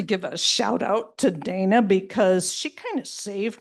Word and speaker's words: Dana: Final thing, this woman's name is written D-A-N-A and it's pronounced Dana.